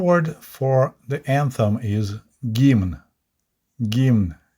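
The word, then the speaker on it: гимн: today's video we're going to talk about gima the anthem of the Soviet Union and it's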